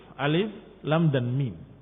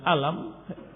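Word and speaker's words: الم: Muslim yang saya hormati, surat Al-Baqarah diawali dengan huruf-huruf alif, lam dan mim. Alif, lam, mim dibaca bukan dengan alam, tetapi dibaca alif, lam dibaca lam, dan mim dibaca mim. Demikian cara membacanya.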